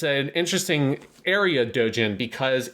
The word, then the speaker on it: doujin: and an illustrator and they're both in the dojin scene in terms of being consumers of the dojin market and dojen for people who do not know it's spelled